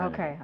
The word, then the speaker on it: Jernigan: So did I say your name correctly, Jernigan? That's how you pronounce it? Jernigan, yeah, Jernigan. Okay. Yep. So so it is pronounced how it's spelled.